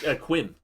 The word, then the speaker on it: Quim: Yeah, it's like Miro or something, right? No, it's Quim.